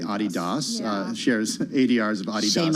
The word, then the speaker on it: Adidas: Adidas, or as I was corrected earlier in the day, Adidas, shares ADRs of Adidas.